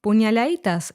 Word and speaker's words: puñaladitas: As in demasiado, the letter D in puñaladitas was omitted, so it's pronounced puñaladitas instead. This word is the plural